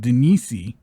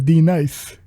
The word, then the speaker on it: Denise: And she's going against Denise, or I've heard her name pronounced Denise Gomes. Her nickname is D. Pause. I've also heard her name pronounced as D Nice.